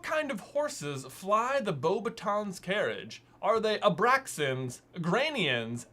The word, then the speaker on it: Beauxbatons: I think because in Goblet of Fire, Dumbledore specifically pronounces it as Beauxbatons. Oh. And so there's like literally a moment in the movies where like that's how it's said.